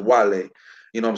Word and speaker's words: Guale: It is actually spelled Wale, but it's pronounced Wale.